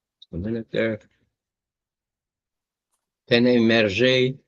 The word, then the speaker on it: Hergé: Yeah, it was invented by a guy named Hergé. Or maybe Hergé was Belgium. I don't know. Just a minute there. Hergé. A minute there. Hergé. From the French pronunciation of his reverse initial, RG, was a Belgian comic strip artist.